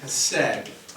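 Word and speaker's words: chesed: And that word in the Hebrew is hesed. Sometimes you'll see it spelled with a C in front of it too, but it's silent.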